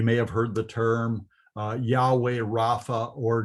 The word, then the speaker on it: Yahweh: You may have heard the term Yahweh Rapha or Jehovah Rapha. Jehovah, of course, means nothing. It's a mistake in the pronunciation of God's sacred name.